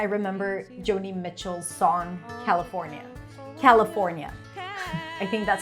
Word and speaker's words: California: California. I think that's how I learned the pronunciation of this word when I was 12. California. California. You can also reduce the le to a schwa.